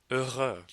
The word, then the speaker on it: heureux: The French word for happy is heureux. The X here is also silent, but liaises like an S, even in the singular masculine form.